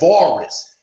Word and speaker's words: Avaris: And then he mispronounces the name. It's called Avaris.